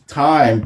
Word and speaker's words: thyme: This is time. Time is spelled Thyme, but I want to say Time.